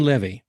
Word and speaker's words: Leavy: sure I get if I get your last name wrong, get me slap me. Jane Lvy, you got it right.